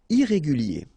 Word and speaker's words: irrégulier: Okay, remember, I-E-R at the end of your word here, it will be ye, okay? Irrégulier. Irrégulier.